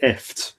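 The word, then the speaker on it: IFTTT: I think you pronounce it ift, but I just say if this then that.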